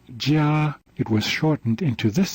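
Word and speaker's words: 加: basic sound characters in mandarin this character is pronounced jia it was shortened into this shape which is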